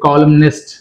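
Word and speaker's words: columnist: కాలం, కాలం ఏమైంది ఇక్కడ మళ్ళీ ఎన్ అనేది సైలెంట్, కాలంలో ఎన్ అనేది సైలెంట్, బట్ ఇక్కడ మళ్ళీ ఐఎస్టీ యాడ్ చేయడం వల్ల ఏమవుతుంది అంటే కాలమ్నిస్ట్, కాలమ్నిస్ట్ అంటే ఎన్ అనేది ప్రొనౌన్స్ చేయాలి, రైట్.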